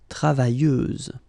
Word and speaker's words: travailleuse: Feminine form, travailleuse, same rule and same phonetical thing. You don't pronounce the final S, so you get travailleuse.